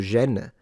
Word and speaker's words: Gênes: Gênes, it's spelled with a G, but the French pronounce the G as a "j", right? De Gênes.